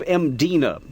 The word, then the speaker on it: Mdina: the classic city of mdina there's no vowel in that first syllable it's just M di n a it is a closed